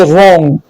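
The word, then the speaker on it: wrong: आर से पहले W silent होता है, जैसे रॉन्ग, right, rap, रीस्ट, GH silent.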